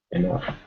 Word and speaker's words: enough: Number 4 is stuff. What matches with number 4? Enough. Enough.